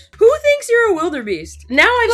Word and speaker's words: wildebeest: w i l d e r b e a s t So, it is wildebeest. It's not wilder. Wildebeest. Wildebeest. Who thinks you're a wildebeest?